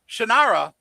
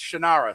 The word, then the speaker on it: Shannara: not how you pronounce it? Well, Shannara is how I pronounced it.